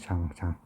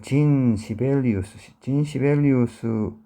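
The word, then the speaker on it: Jean: 자, 영어식 발음은 진인데 뭐 프랑스어로는 잔이나 뭐 되겠죠. 그래서 장. 그래서 invited와 진 시벨리우스에 의해서 초대되어졌습니다.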